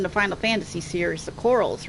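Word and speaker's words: Coeurl: Basically coral, like the coral in the Great Barrier Reef. But what if I say it with a different inflection? Corral.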